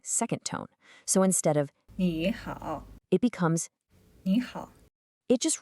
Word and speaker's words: 你好: 你好. It's pronounced. 你好.